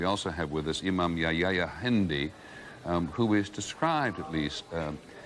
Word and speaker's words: Yahya Hindi: First of all, I just want to make sure, am I pronouncing Yahya Hindi correctly? Well, that's close enough. Well, say it accurately. Yahya, Imam Yahya Hindi. Yahya Hindi.